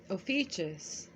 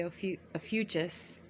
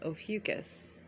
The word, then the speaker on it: Ophiuchus: was between November 27th through December 18th now ofus your constellation is situated behind the Sun from